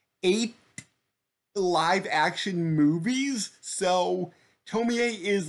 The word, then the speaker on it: Tomie: this is a couple uh where this girl tomi a shows up and she's kind of immortal um like yeah i always thought it was tomy but no the the name in the japanese